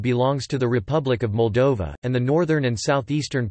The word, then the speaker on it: Moldova: Moldavia, Romanian, Moldova, pronounced Moldova, listen, or Terra Moldovei in Romanian Latin alphabet,